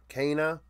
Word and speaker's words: Kana: I guess it's not Keen, it's Kana, possibly, is how it was being pronounced on the broadcast.